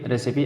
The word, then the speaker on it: recipe: Simile, रेसिपी, RECIPE, FINALE, finale, ठीक है। जिसमें सिमिली का उपमा अलंकार, रेसिपी माने खाना बनाने की तरकीब होती है, नुस्खा, फिनाली मतलब उपसंहार। अब देखिए लास्ट में ई आता तो साइलेंट रहता है, लेकिन